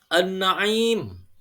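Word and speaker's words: النَّعِيم: Contoh ketiga, an-na'im. Ada alif lam, sesudahnya ada nun. Dan nun itu merupakan salah satu huruf samsiah. Jadi, alif lamnya juga dilesapkan kepada huruf nun tersebut.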